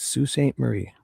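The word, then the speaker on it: Sault Ste. Marie: So it's not s it's sue staint Marie.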